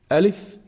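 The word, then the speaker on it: ألف: the first letter Elif Elif is pronounced from the empty space of the mouth and the throat so there's nothing specific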